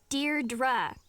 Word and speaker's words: Deirdre: Deirdre. I know it's got that tricky second syllable, but I figured it out by age 2.